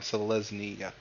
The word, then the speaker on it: Selesnya: Selesnya.